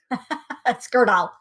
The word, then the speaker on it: Skurdal: occurred to me that I may have put the accent on the wrong syllable skirt off Accent on the first syllable got it thank you